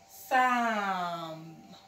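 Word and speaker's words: psalm: So you say, Sam. Sam. And that's the word. P does not talk because the S is there, telling him to shut his mouth.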